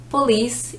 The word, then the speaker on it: police: you put the stress and police that you put the stress on the second syllable hope you enjoyed this